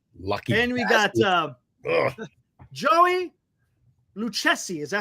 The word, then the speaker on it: Lucchesi: And we got Joey Lucchesi.